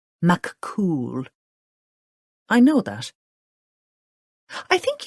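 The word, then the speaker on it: Fionn mac Cumhaill: She spelled it for Lottie. Pronounced McCool.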